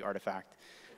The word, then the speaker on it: RTFKT: studios is doing um for those of you that pronounce it wrong rtfkt it's actually artifact um i'm wearing the